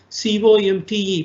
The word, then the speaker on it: Comte: Positivism is one type of philosophy and sociology that was promoted by the sociologist called Auguste Comte, C-O-M-T-E, pronounced Comte.